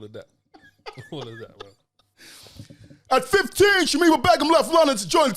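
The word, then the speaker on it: Shamima Begum: It's Shemima Begum.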